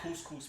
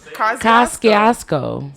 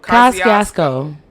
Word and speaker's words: Kosciuszko: Couscous Bridge. Not the couscous bridge. Yo, you have to be stopped. Couscous. Kosciuszko. Say it one more time. Kosciuszko. That's what's up.